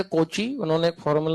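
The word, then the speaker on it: Cauchy: हां क्या होता है वो कोची फार्मूला कोची काऊची कर लो अपने हिसाब से प्रोनाउंस बट ऐसे किसी के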